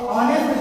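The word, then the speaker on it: honest: तो ऑनेस्ट जब बोलते हैं हम लोग जानते हैं कि ऑनेस्ट का स्पेलिंग शुरू तो एच से होता है, लेकिन उसमें एच साइलेंट होता है, इसलिए और वो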